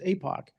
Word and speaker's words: APOC: And the name of the commission is often shortened to APOC, pronounced Apoch.